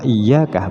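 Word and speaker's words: إِيَّاكَ: dua huruf seperti contoh Iyakah berarti di sini tasdid di sini menunjukkan adanya dua ya ya yang pertama mati yang kedua hidup jadi bacanya iyaka iyaka iyaka na'budu wa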